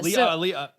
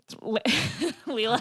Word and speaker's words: Leela: Yeah, Leah. Leela. Say it right. Say it it right.